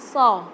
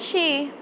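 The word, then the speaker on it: ص: Tapi ini kita so. Jadi lidah kita nggak keluar dari gigi. So. Oke? So. Contohnya ihdinas siratal mustaqim. Nah, ihdinas si, di situ kan huruf shad. Nah, berarti kita bacanya ihdinas si. Nah, bukan shi. Kalau shi kan berarti shin tadi. Ini pakai shad. Jadi ihdinas si. Jadi bukan si biasa, bukan juga shi, tapi so. Ihdinas si.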